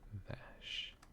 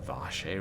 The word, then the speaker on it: vache: Yeah, no, it said Vash instead of Vache. I obviously do not speak French. Well, Vache rhymes with cache.